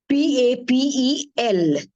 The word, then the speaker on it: papel: accent see the word the way Pap is pronounced p a p e l so we pronounce it as papel animal okay